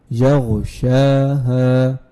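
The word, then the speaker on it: يغشاها: Ha Fatha will be Ha. There is Alif, so it will be also elongated. Yaghshaha. So if you join them, it will be Yaghshaha.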